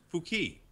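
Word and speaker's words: Fuck: And it's pronounced Fouquet.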